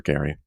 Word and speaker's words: Gerry: This is where we get the term gerrymandering, because people pronounce his name wrong. Justice for Gary.